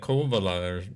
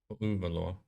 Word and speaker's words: Kouvola: Kouvola. Kouvola. Do y'all like really pronounce or stress the U? Worst concrete jungle with no colors whatsoever. Ah. You pronounce it the way it's written.